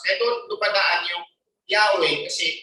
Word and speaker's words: Yahweh: Hindi na, kaya hindi sila nagpo-pronounce. Kaya doon padaan yung Yahweh kasi Y, lalagyan nila ng H sa dulo, hasta ka lang, Ya, tapos H, di ba?